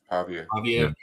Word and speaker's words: Pavia: Pavia.